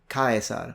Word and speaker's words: Caesar: the eye diphthong so the idea of kayasar which was the correct way to speak In classical Latin was already coexisting for